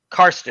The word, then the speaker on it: Carsten: Carsten.